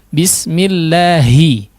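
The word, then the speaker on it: بسم الله: Tapi bismillahi, dihaluskan ya, khalis min al-fam. Betul-betul pure dari rongga mulut.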